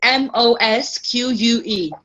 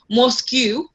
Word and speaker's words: mosque: So for example, mosque, right? It's spelled as M-O-S-Q-U-E. The U-E, they are the blank letters. Obviously, we don't say mosque, we say mosque, right?